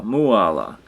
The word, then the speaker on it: Mooala: And here's Mooala in the tree, pronounced like koala, Mooala.